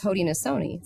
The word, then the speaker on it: Haudenosaunee: But it's Haudenosaunee. That's why it says the Haudenosaunee Lens, and we say Sony because it's the Seneca pronunciation. Some people say Shoni, but he uses that.